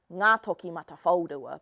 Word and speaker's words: Ngātokimatawhaorua: So I'm going to teach you how to say the name Ngā Toki Mata Whaurua.